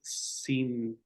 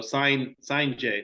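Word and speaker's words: Cijntje: But an ambidextrous pitcher, Yep, pitched at I got his name right here, Urangelo Cinte. Oh, sign J. There we go. They got it at the end. The pronunciation for me.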